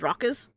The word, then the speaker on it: raucous: That word is raucous, right? I pronounce it as raucous.